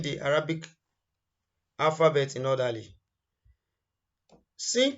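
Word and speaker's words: سين: Sin comes out when the tips of the tongue touches the edge of the lower incisors along the upper incisors.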